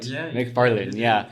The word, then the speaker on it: McFarlane: McFarlane. Right? Did I say it right? Yeah, McFarlane.